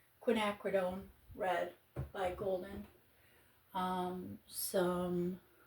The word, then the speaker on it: Quinacridone: I'm using the colors uh scarlet red with some quinodone. Looking at how to say it. Quinacridone.